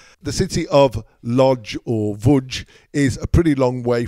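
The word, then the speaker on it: Łódź: Wudge.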